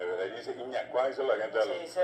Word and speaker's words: Yñakuã: tipo agujero Añacuá. maligno. Pero en realidad esa palabra está mal pronunciada, es Iñacuá, es una corredera. Y por degradación, por degeneración, entonces pasó a llamarse ya hoy popularmente Añacuá, es Iñacuá.